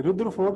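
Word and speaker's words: Rutherford: अगर तुम रुद्र प्रताप सिंह तुम बोल दोगे, नहीं सर। रदरफोर्ड ना, रदरफोर्ड ना, थोड़ा स्पेलिंग थोड़ी गड़बड़ हो गई अमन, नहीं, थोड़ा एक्सेंट थोड़ी गलत हो गई। एक्सेंट गलत हो गया।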